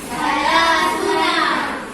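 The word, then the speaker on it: ثلاثون: Okey sebut salasuna. Ulang. Salasuna. Salasuna. Salasuna. Sebab ni ada alif ni ada wau. Kena panjang.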